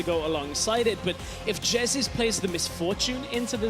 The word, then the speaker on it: Jesiz: For the record, Martin, it's pronounced Jesiz, and that's going to be a Gragas going up to the top lane instead.